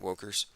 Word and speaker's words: wokers: And I'm going to start calling them wokers. Rhymes with jokers, kind of like it, wokers.